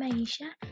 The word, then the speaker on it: Aisha: My name is Aisha, and you pronounce my name Aisha.